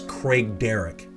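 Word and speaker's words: Craigdarroch: got a storied history i've heard this pronounced uh craig derock or craig derock uh it's a it's a complicated one but it's craig derek craig derek craig derek castle oh here's a popular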